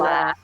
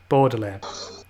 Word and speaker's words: Baudelaire: Because I'm not sure how to pronounce it. Baudelaire. Baudelaire.